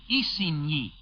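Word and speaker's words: Isigny: miles northwest of khan khan by the way is spelled c-a-e-n it is near isinhi on your map spelled i-s-i-g-n-y three on the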